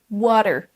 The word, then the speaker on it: water: Certains accents aux États-Unis vont transformer en fait le D, le T du milieu comme un D. Water, water.